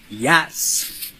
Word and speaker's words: IHS: The word IHS, pronounced Yas, which sounds like Ya, or which sounds very close to the German word Jahr, meaning year.